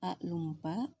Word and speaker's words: a lumpa: Jadi meskipun tulisannya A lupa, dalam pelafalan tetap A lumpa.